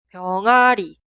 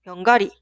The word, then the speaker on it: 병아리: pollito, 병아리, 병아리, 병아리. Suena como está escrita. 강아지, 고양이 y 병아리. Un error muy común es pronunciar así. 강가지, 고양기, 병가리.